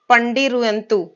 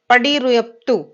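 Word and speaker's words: பதிற்றுப்பத்து: इसका आंसर होगा पंडिरुयंतु। पडिरुयंतु, इसका प्रोनाउंसिएशन है पडिरुयप्तु।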